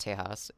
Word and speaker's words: Tejas: Texas is the modern English name, while Tejas, pronounced Tejas, is the older Spanish spelling derived from the Caddo